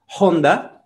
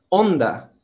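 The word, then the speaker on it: Honda: a ella como bondad pero curiosa h en portugués y además en español no es pronunciada así que me parece un poco raro que digamos onda y no onda y es como los hispanos dicen ya llaman onda en la próxima este es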